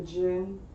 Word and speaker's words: djinn: feel like I'm gonna say it wrong, the djinn. Oh, Jinn.